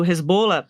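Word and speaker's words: Hezbollah: Aí chegaram os caras do Resbola, na verdade é jeito certo de falar do Resbola para falar e tinha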